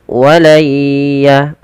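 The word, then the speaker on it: وَلَن يَتَمَنَّوْهُ: Baik, mari kita perhatikan pada lafal walayya. Kita langsung masukkan suara nunnya kepada huruf ya. Karena di sini ada bacaan idgham bi gunnah, yaitu ketika ada nun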